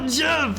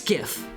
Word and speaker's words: GIF: It's Jif Lol. It's not Jif.